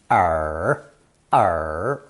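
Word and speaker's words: 耳: the squarish modern version pronounced third tone r r the lobe of the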